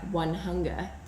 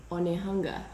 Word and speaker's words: Onehunga: on a map and it looked like One Hunger, and it's actually Onehunga. And then another example, Remura is actually Remuera.